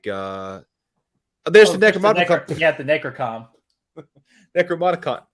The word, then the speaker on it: Necronomicon: Like, you know, I see them more like there's the Necronomicon. Yeah, the Necrocom. Necronomicon. Necronomicon.